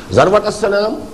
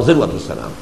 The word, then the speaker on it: ذروة السنام: سنام کوہان ہے اور ذروہ یہ دونوں اس کی تلفظ ہے، زال کے زبر کے ساتھ بھی اور زال کے زیر کے ساتھ بھی، ذروۃ السنام اور ذروۃ السنام.